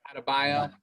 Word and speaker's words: Adebayo: Adebayo. Okay, I get some syllables mixed up there.